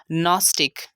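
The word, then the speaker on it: gnostic: Second example है नॉस्टिक। यहाँ पर भी हम जी के बाद एन आ रहा है तो इसको साइलेंट करेंगे।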